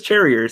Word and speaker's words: Cherrier: It says Cherrier, Cherrier. It's pronounced like Chardonnay.